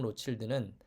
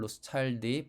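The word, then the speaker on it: Rothschild: 샤또 무통 로칠드는 원래 2등급이었다가 1973년에 1등급으로 승격합니다. 보르도 와인은 샤또 뒤에 고유명사를 이어붙인 명칭이 곧 브랜드명입니다. 샤또 무통 로칠드의 경우 무통은 포드밭 이름이고 로칠드는 재벌 로스차일드의 프랑스식 발음입니다.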